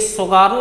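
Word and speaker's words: Tsugaru: जल संधि है ये ये शुगर नाम की जल संधि यानी की टी साइलेंट है ये स्वरों नाम की जलसंधि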